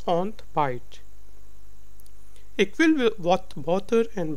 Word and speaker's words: ontbijt: It's ont b r y. So ing, e and y are sound like y in English. So it's ontbijt.